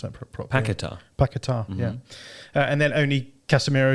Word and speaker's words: Paquetá: I need to pronounce that properly. Paquetá, yeah.